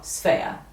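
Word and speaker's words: Sbea: i love it s-b-e-a two syllables sphere a lot of people think it's three seven no sphea i don't know i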